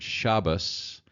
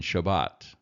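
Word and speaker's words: שבת: That's why you'll hear the word Shabbos rather than Shabbat, okay? Because the S, the T on the end of Shabbat in Ashkenazic is pronounced as an S.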